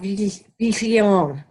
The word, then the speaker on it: Viglione: No, it's supposed to be kind of soft. Viglione.